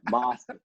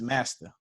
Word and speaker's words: Masta: Yeah, Masta. That's how white people say my name. Right? Like I don't want to be like that, man. It's just Master.